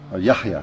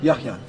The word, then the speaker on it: Yahya: Yahya. Yahya.